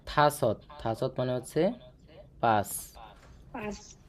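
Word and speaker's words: 다섯: চার থাসত থা সৎ এটার উচ্চারণটা হবে থাসত থাসত মানে হচ্ছে পাঁচ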